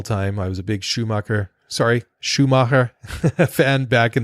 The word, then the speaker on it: Schumacher: podcast out there just please don't say Michael Schumacher anymore he is Michael Schumacher so ok fair enough for us but agree to disagree I'm a little bit too English in my pronunciation so maybe maybe we